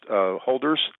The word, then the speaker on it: HODLers: to Bitcoin, is they call themselves hodlers, but it's pronounced holders, meaning you buy Bitcoin and you hold on for dear life.